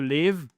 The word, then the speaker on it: live: To live, c'est habiter, to live. C'est un i court, d'accord?